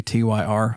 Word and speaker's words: Tyr: I've I've heard that pronounced a few different ways. Some people just say Tyr. I call it Tier.